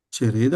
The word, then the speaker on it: Cereda: Cereda è un'altra piana. È un'altra piana, però vorrebbe l'accento sulla seconda E, un accento stretto. Chiuso, bravo.